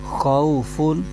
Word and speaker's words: خوف: زبر آ جائے تو واو لین ہوتا ہے، اس کو بغیر کھینچے پڑھتے ہیں۔ فا پر دو پیش ہے، تنوین ہے، تو اس کو تنوین کی آواز کے ساتھ پڑھیں گے۔ تو اس کے ہجے یوں کریں گے، خو واو زبر خو، فا دو پیش فن، خوفن۔ آگے عین پر زبر